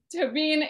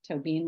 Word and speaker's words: Tóibín: I'm not Irish, so I'm not going to say it with two syllables, or at least as I try to, it probably won't sound like two syllables. Tóibín is the author of